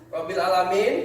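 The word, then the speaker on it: رَبِّ الْعَالَمِينَ: Nah, artinya Rabbil alamin di sini kita lihat bahwa al mati ketemu dengan di depannya huruf ain. Jadi dibacanya Rabbil alamin, A-nya jelas.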